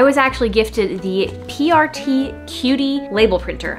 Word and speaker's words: Qutie: actually gifted the PRT cutie label printer I think that's how you say it it's almost spelled like quiet but it's not um and it's a